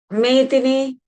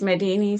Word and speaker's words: Medini: Medini is the correct way to pronounce it, but yeah, everyone says Medini, so I've accepted that as well. It's kind of difficult to pronounce the Sinhalese way, so that's fine.